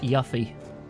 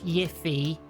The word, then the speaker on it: Yuffie: Who pronounced it Yuffie when the game came out before it was voiced? Not Yiffy.